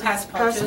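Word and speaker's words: passe-partout: And then also a problem with museum and coated glass, also with, how did you pronounce that framing method? Oh, passepartout.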